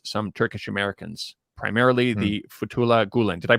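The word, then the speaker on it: Fethullah Gülen: Xinjiang affair is some Turkish Americans, primarily the Fethullah Gulen. Did I pronounce that correctly?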